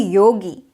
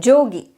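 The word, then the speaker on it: योगी: of that region pronounce in South we say Yogi and in North they may say it as joogi like this there are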